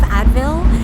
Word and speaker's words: Advil: And just adding that extra syllable Sure. like made her understand. Same with like ibuprofen. She pronounced it like ibuprofen, like just added more syllables.